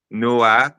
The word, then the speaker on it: noix: Noix, Noa.